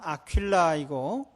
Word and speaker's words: 아퀼라: 그리고 아굴라라는 이름은 라틴식으로 하면 아퀼라이고 또 브리스길라는 프리스킬라라고 이렇게 발음을 하는데 둘 다 유대인인지 혹은 이 아굴라만 유대인인지는 잘 모르겠어요.